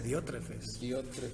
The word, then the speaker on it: Diótrefes: Nada, sin la S, Diótrefes.